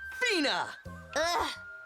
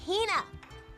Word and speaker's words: Hina: And this young lady is my traveling companion, the esteemed archaeologist, Fina. You keep saying it wrong. It's Hina. Heina.